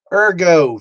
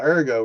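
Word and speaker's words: ergot: Erggo, thank God.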